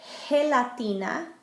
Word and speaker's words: gelatina: If the G comes before an E or an I, it makes more of an H sound, like in high. For example, gelatina, jello, or girasol, sunflower.